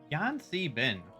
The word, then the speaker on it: Yan C Bin: Yan Si Bin. Oh. Yan Si Bin. And how would you spell that? YAN C BIN. Oh, okay. C like the letter C or Letter C, yeah. Oh, okay.